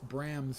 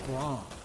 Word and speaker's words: Bram: mispronounce bram's name as Braum I've never eaten a Grom cracker in my life so I'm going to go out on a limb and say that it's pronounced Bram rhyming with graham thank you really I